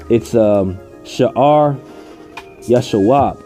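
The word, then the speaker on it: Shear-jashub: But when you go into this, when you pronounce that name in the Hebrew, it's Shear Yashawab.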